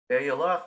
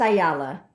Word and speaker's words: Ayala: Ayala? No, I didn't get that right. Pronounce it for me again, please. It's Ayala.